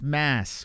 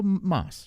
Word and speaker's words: Moss: It's an an O instead of an A. What's mass? What? What are you Like that sounds like a trying to say my name. Go Moss. Just say Moss.